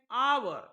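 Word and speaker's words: hour: बघा लक्षात घ्या अपवादन आवर आता तुम्ही म्हणणार या आवर च स्पेलिंग आहे एच ओ य आर पण या ठिकाणी एच चा उच्चार होत नाही तो सायलेंट आहे इथं डायरेक्ट ओ चा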